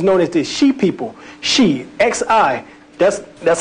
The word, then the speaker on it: Xi: Shi, X-I. That's how X-I is Shi. That's how it's pronounced within the Olmec tongue.